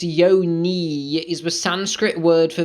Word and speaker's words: yoni: this okay let's read yoni pronounced yo knee is the sanskrit word